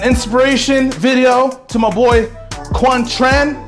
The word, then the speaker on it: Quang Tran: video to my boy quan tran jimmy say his name kwon tran yeah some like he's